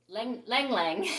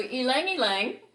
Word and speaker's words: ylang ylang: on the pronunciation because i always thought this was lang lang right but it's laughs see i can't even say it right now so ylang ylang and and um i